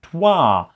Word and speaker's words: trois: There is an R there. I checked like a French pronunciation video the other day, and it's like it's Trois. So it's not Trois without the R, but it's Trois. Oh, so the R is a little bit there.